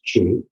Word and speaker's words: qi: the Chinese is qi, often you'll see it chi or qi, but it's pronounced qi.